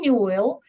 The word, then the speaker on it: Newell: I'm a spiritual self-awareness mentor, and I'm here with Amberlynn Newell, and it's pronounced like a jewel, and she's really a jewel because you will see how sweet she is and special and everything else.